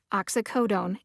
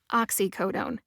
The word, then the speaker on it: oxycodone: oxytocin oxycodone and oxybutynin when i learned the drug name oxycodone it was pronounced oxycodone the official pronunciation in the usp dictionary online is oxycodone i had a really